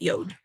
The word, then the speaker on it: Yod: chode exactly yeah father yo y o d yod like how God is DoD but he wants you to pronounce it yode yeah so um and